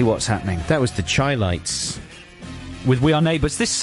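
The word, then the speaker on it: Chi-Lites: The Chylites. The Chylites. Like highlights.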